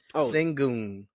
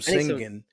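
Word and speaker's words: Şengün: alarin singon I finally heard the right pron pronunciation of his name it's singon singon singon yeah I was call him singing I I didn't know I had never heard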